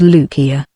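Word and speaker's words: Lucia: first visit to Paris he pronounced the name with the hard sea of the Italian tongue as though it was spelled lukia to be sure laughed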